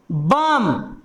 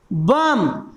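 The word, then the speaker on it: bomb: बम। क्या पढ़ते हैं? बम। देखिए इसमें बी का उच्चारण हुआ? नहीं हुआ, तो ये भी मेरा कहलाएगा साइलेंट बर्ड और बी मेरा कहलाएगा साइलेंट लेटर।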